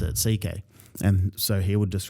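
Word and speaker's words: C.K.: That's literally how you pronounce it. CK and so he would just write C and then the K.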